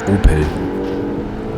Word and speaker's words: Opel: And Opel is pronounced in German obviously a little bit different. You just say Opel. This is how a German would say it.